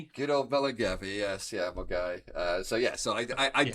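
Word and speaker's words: Milngavie: English word when when it's clearly not Mulgai. Yeah, that's the one. Good old Velgi. Yes. Yeah. Mulgai.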